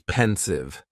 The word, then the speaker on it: pensive: Next is pensive, and the pronunciation is very easy, just 2 syllables, and the stress is on that first syllable.